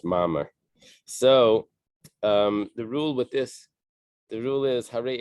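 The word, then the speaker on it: מאמר: Mem, Aleph, Mem Resh, like a mimer, like a Hasidic mimer, but it's pronounced Mamar.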